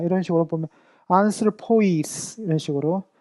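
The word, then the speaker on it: ἀνθρώποις: 오이 같은 오이라도 앞에 거는 짧게 발음하고 뒤에는 길게 발음한다. 이런 식으로 보면 안슬포이스 이런 식으로 안슬포이스 이런 식으로 우리가 발음을 한다라고 보면 좋을 것 같습니다.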